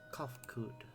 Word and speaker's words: Kofkud: As for nomenclature to address my individual person, I believe it would be pronounced Kofkud.